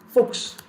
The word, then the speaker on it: Fuchs: On the other hand, if s is after ch, it is going to be pronounced as x, as in Fuchs, book, the Fuchs.